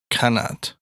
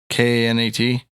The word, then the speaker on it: qanat: It's Arabic in origin, meaning channel. Sweet. Oh, you could just call it a channel. No, it's a qanat now. Okay. How you spell it? K-N-A-T? Q. Qanot. Qanat. Q-A-N-A-T? Not Q-U-A. Nope. Qanat. Yeah, it's a good word to know for Scrabble. Yeah, dude. I love that word. It's like Janet.